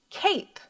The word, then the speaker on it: cape: K, a, p, cape. Very good. Notice we don't hear the E make a sound at the end. He's silent.